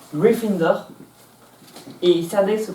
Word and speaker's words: Gryffindor: Gryffondor se prononce Gryffindor et Cédric se prononce Ravenclaw.